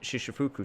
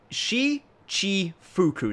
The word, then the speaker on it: Shichifuku: Kyushu Star #1 and the Popo on Shishifuku Street. Okay, I need to learn how to say this properly. Shichifuku Street. Shichifuku Street. There we go. Only took me like 4 games to get it right.